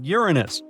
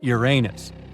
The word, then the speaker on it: Uranus: Actually, astronomers say we should be pronouncing it like Uranus, not Uranus.